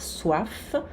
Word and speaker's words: soif: Avoir soif, aqui o F se pronuncia.